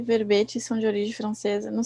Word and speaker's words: verbe: Enquete e verbete. Verbe e enquête. Em francês fala verbe, para dizer verbete, e enquête, para dizer enquete. Enquête e verbe. Verbe. O E final é mudo.